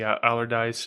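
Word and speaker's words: Allardice: of resubmitted everything from the core range the allerdyce and the is that how you pronounce that yep okay cuz I know a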